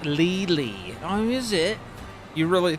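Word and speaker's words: Lely: It's pronounced Lily.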